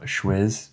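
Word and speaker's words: Schwyz: From there, you're going to drive 2.5 hours to the town of Schwiz, I believe it's pronounced.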